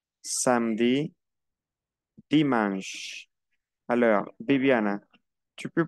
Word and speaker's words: samedi: Samedi, no pronuncio la E. Samedi.